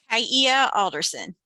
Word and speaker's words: Kaia Alderson: Did I pronounce it correctly? Kaia Alderson. Kaia. So it's 3 syllables.